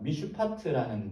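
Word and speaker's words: מִשְׁפָּט: 발음하면요 짜증나게 해서 죄송합니다 미슈파티입니다 오른쪽에서 왼쪽 읽어요 미슈파트라는 발음의 정의라는 단어입니다 이게 이제 앞에 말했던 여기에서의 사용된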